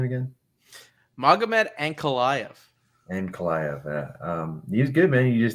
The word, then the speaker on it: Magomed Ankalaev: Magomed Ankalaev.